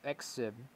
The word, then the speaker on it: XIV: and that is XIV that's the pronunciation of the name exib and never heard of